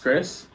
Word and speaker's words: Chrix: Like, it's still pronounced Chris, Yeah. but because the X sound is still like a S sound.